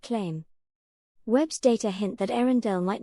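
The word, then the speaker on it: Earendel: They named it Arendelle, pronounced Arendelle, and called it the most distant single star ever observed.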